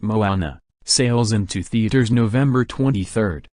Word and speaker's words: Moana: When Mona, pronounced Moana, sails into theaters November 23rd, it will have its world premiere November 14th at a Fairfest.